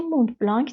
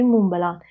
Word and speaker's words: Montblanc: اسمشم باید بهتون بگم به انگلیسی مونت بلانک تلفظ میشه ولی به فرانسوی مونبلان حالا ما همون مونبلانو